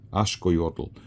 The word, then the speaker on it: axolotl: formation of of words if it were pronounced however Mayan the Maya Indians the then that X would be an sh sound ashot that's a lot easier